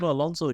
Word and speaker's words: Alonso: Have I got the name wrong? No, Alonso.